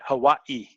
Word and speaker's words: Hawaii: Hawaii.